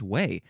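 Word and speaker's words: güey: Gooey is pronounced like the English word way. Gway? Oh, gway, I guess. Well, there we go. Or no, maybe there's no G sound at all. It's literally just way. The G is pronounced like a W, not a hard G.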